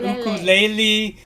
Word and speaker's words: ukulele: The correct debate of the Hawaiian word is ukulele, not ukulele, not ukulele.